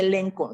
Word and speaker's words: elencho: Esta palabra viene de elenco, elencho, pero se pronuncia elenco, ¿no?